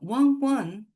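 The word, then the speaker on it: わんわん: Well, wan wan is, in English, bow wow or ruff ruff, but you can all say it too because it's just pronounced like the number 1, 1, 1.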